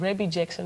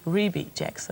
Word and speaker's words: Rebbie Jackson: De meeste van ons kennen haar als Rebbie Jackson, maar dat zeggen we helemaal fout. Because the proper pronunciation is Rebbie Jackson.